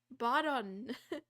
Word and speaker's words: Botton: Botton? It's like button? No, it's like bottom, but with an N. Botton.